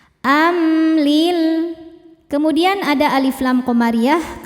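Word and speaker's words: أم: Am ada hukum izhar syafawi karena mim sukun tidak menghadapi mim atau ba melainkan menghadapi lam. Cara bacanya mim dibaca jelas. Amlil.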